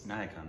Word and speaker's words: Nayakan: it's the Tamil film niacon uh the 198 niacon right am I saying it wrong that was yeah naak n n okay no that was right I thought I was